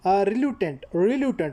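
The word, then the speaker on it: reluctant: बाकी ये वाला जो क्वेश्चन है choose the correct synonyms of the word रिलटेंट रिलटेंट word है। ठीक है? यहां पर सी साइलेंट साइलेंट होगा नहीं पढ़ा जाएगा।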